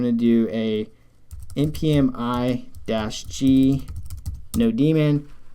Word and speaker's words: nodemon: So I'm going to do a npm I-g NodeDaemon, or NodeMon, however you want to pronounce it. A student called me out on that. Basically, it's a monitor for the Node server, so it makes sense that it's called NodeMon. But I'm almost positive that